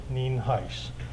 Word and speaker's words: Nienhuis: again for your records uh I'm Sheriff Heist n i n hu i s and it's pronounced nin Heist um Sunday morning uh probably when most of